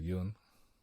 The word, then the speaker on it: Yun: Is it Yun or is it Yoon? Yoon. So up. So if you do the accent, it goes up. Yoon.